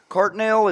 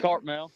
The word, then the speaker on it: Cartmel: Now, your partner is Cartnell. Is that how you say it? Cartmel. Yes, sir. Cartmel.